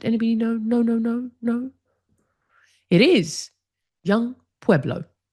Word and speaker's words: Young Pueblo: It is young Pueblo. I pronounce him as Jung, but when I looked at the pronunciation, it's apparently Young.